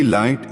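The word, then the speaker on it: लं: energy this red energy light is filled with कामने support फीयरलेसनेस security confidence energy balance grounding and stability let's begin by chanting the root चक्र seed मंत्रा लाम pronounce S ला इफ यू are familiar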